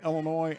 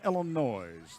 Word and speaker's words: Illinois: stations in Tennessee Kentucky Illinois and Indiana you notice I said Illinois ladies and gentlemen it's not Illinois's 30s is silent and then we had